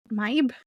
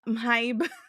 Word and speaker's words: Mhybe: I try to pronounce the H's, so I go Maib, but it's too difficult to keep saying.